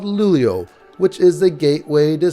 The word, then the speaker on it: Luleå: a short flight North to a place called lulio which is the gateway to Swedish lap yes that's how it's pronounced from there after a short brief we